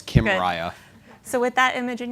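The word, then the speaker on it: Kymriah: Kim Riya and and tell us how to remember how to pronounce Kim right I didn't come up with this it's as if Kim Kardashian and Mariah Carey got married okay okay so it's Kim Mariah so with that image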